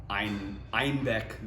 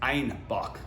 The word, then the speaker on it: Einbeck: And so they were pronouncing Einbeck, the city, and the style, like they were calling it the style of beer that named after the city, but they kept calling it Einbock instead of Einbeck.